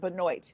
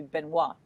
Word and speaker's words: Benoit: i'm going to say benoit i'm not sure if that's how i say it no she pronounces it benoit if you're a canadian it'd be benoit but okay oh yeah